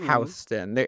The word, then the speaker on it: Houston: Houston. It's pronounced Houston.